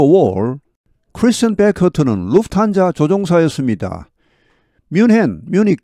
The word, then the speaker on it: Munich: 뮤닉, 영어 발음 뮤닉이죠.